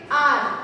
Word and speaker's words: hour: But while saying it, while pronouncing it, we do not say out H, right? We say it as R.